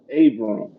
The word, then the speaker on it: Abram: degrees do we have Adam and Adam am I pronouncing your name right no it's Abram Abram okay sorry about